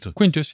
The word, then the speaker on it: Quintus: So Quintus was, am I saying it right? Quintus? Quintus, yes.